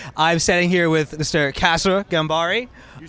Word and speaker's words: Kasra Ghanbari: Kasra Ghanbari.